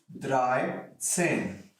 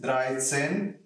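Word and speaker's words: dreizehn: say 3 plus 10 so it is exactly dry same yeah so it is dry sin same way in case of 14 it is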